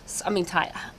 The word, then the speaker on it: Tidal: Tidal.